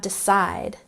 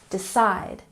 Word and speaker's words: decide: And next we have decide. Stress the second syllable. Decide, decide.